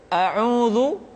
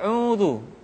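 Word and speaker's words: أعوذ: pada Tahapan pertama adalah kesalahan di dalam mengucapkan vokal yaitu huruf fathah yang sering tidak jelas pengucapan vokal a-nya contoh auudu sering dibaca audu huruf a misalkan dibaca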